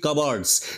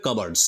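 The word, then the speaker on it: cupboards: লক্ষ্য করা কি লক্ষ্য করল ওয়ার ফিল থ কাবারড যে ওই যে কু দেয়াল সে দেয়ালগুলো পরিপূর্ণ হয়ে রয়েছে কি দিয়ে কাবার্ডস উচ্চারণটা কিন্তু হবে কাভার্ডস ঠিক আছে কাবোর্ড নয় কিন্তু ঠিক আছে কাবার্ডস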